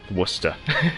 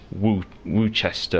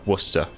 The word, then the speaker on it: Worcester: war um so how do you pronounce the worcester in england worcester there you go yeah so um not worcester not woochester or whatever whatever worcester is how we pronounce it however bianchi is